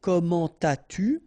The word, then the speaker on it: comment as-tu: so avec un adverbe, don't make the liaison. So you don't say comment as-tu? No, nothing here.